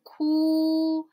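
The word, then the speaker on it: 酷: So, Ku is not cool, right?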